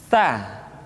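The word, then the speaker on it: ث: Diucapkan dengan suara dan nafas yang terdengar mengalir. Sa, si, su, bas. Biasanya huruf Sa terjadi kesalahan pada suara yang tidak mengalir. Jadi sekedar nafas yang mengalir. Sa, si, su, bas. Atau lidah yang keluar terlalu panjang. Sa. Jadi yang tepat adalah ujung lidah disentuhkan dengan dinding dua gigi seri bagian atas.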